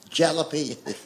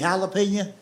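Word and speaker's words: jalapeño: love hot peppers, but he calls it jalapeno peppers. He say to a waitress, "Do y'all have jalapeno? You mean jalapeno?" "No, damn it. Jalapeno." Let's wait. He He He will He will point to that jar of pepper. He says, "See right there, that's a J.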